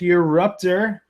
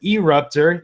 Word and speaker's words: Eruptor: talking some Skylanders history with your ruptor or you guys may pronounce it erupt her either way it's an